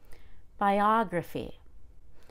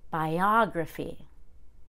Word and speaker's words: biography: the left of gruffy biography make sure you go up in pitch on that o and make it a full short o biography geography make sure the